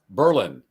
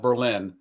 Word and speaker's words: Berlin: And Robert from New I think it's pronounced Berlin, not Berlin. New Berlin, Wisconsin. That's what Ryan told me.